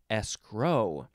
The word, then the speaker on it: escrow: a place next is escro you can also emphasize the second syllable escrow first form noun from